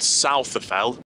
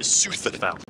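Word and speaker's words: Souther Fell: you pronounce it and i also realized that i think i may have mispronounced the previous wayne wright which i called southaphel when i came off what i thought was called southfell i've heard a guide talking to a group she called it sutherthal so apologies if i did pronounce it wrong i swear there are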